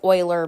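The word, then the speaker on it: Euler: the only way and it is pronounced Oiler by the way um we can use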